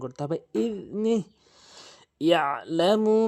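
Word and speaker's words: يعلم: ইয়ালামু মা বাইনা আইদিহিম ওয়া মা খালফাহুম, এখানে ইয়ালামু, এখানে আইনের উচ্চারণ করতে হবে চাপ দিয়ে, ইয়ালামু। অধিকাংশ লোক ইয়ালামু বলে, ইয়ালামু আইনের উচ্চারণ বাদ দিয়ে ফেলে।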